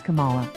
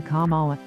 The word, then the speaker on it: Kamala: loves to deride his kamala he gets the second syllable incorrectly with the same gusto